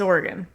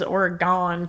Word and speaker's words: Oregon: It's Oregon. Anybody who says Oregon can get bent. It's g though. No, but it's pronounced Oregon.